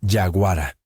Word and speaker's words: yaguara: En el idioma de los indígenas tupí-guaraní, se pronuncia yaguara, y esta palabra no se traduce simplemente como depredador o bestia.